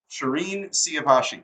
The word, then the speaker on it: Shirin Siavashi: down as I showed you before we started Shireen siavashi did I get it right that's perfect I was nervous about pronouncing your first name not your last name